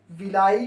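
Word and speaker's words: villi: जाता है जहाँ पे विलाई की सहायता से या विली, कुछ लोग इसको विलाई बोलते हैं, कुछ लोग विली बोलते हैं, प्रोनाउंसिएशन का फ़र्क है सिर्फ।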